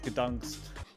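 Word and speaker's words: Gdańsk: It's not Danzig, it's Gdansk. You're saying it wrong. It's Leviosa, not Leviosa. You do it then if you're so clever. Okay, Gdansk.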